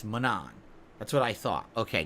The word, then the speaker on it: Manon: the currency you use to do that it's pronounced Manon that's how you pronounce her name not Manon it's Manon that's what I thought okay good all right